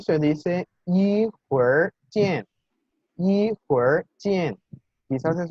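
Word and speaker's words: 一会儿见: En los videos se mencionaba que la R en chino es un sonido en realidad híbrido, ¿sí? No se parece a como decimos nosotros R en español.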